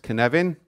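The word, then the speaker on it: cynefin: action and that's what can evan is about yeah it's a Welsh word by the way and it's pronounced kin heaven it has no equivalent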